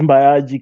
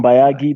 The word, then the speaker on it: Mbayagi: but yeah so uh my name is mayaji most people come in bayagi because i mean it's gi uh kenyans find